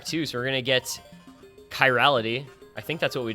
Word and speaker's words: chirality: I I think we we came up with it being like a hard k sound um we did some